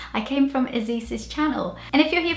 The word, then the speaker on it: Ysis: my own name, because I introduced myself as Ysis, and this is the way that British people call me, but my name is spelled like this, and in Brazil people call me Ysis.